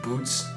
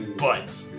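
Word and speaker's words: Butz: It's probably supposed to be pronounced Boots, but you know everybody's gonna look at that and say, his name is Butts.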